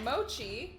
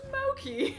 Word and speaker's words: mochi: and i learned today that mochi is not pronounced moki really i thought it